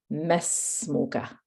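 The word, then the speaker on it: ما اسمك: However, when there is a word before it, you don't pronounce the alif. Okay, so make a little note of that. You don't pronounce the alif. That's why he says mesmuka.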